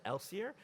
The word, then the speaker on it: Kelsier: there's no canonical way you can decide that the K is silent in Kelsier. Elsier? I say Kelsier wrong.